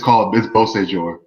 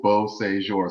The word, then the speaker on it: Beausejour: It's Beausejour. Oh, okay. Beausejour. So I'm gonna get that. It's 3 syllables, Beausejour. So once you put that together, there you go. It's French.